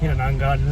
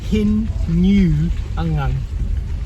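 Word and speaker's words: Hinunangan: So Todd and Lorna were telling us that we were pronouncing Hinanangan wrong. So we thought we'd nailed it, but it's actually Hin New Angang. So you don't say gun at all.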